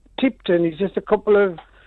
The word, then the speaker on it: Tipton: And the other thing, you're pronouncing Tipton is just a couple of miles away from where I am. It's Tippen. You don't say Tipton. Tippen. Tippen, that's how they say.